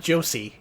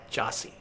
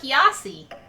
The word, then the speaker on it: Josie: Not Josie. Jossi. Ah, that's spelled Jo O S I E. Oh, so it's like Yossi.